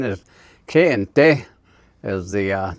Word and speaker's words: Kayenta: The other area is over in Kayenta, which is the correct pronunciation is Kayente, is the name of it.